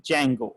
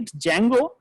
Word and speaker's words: Django: one is known as django where the d is silent guy so i i